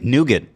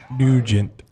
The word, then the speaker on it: Nugent: Am I saying Nougat? What? How do you say his name? Nugent.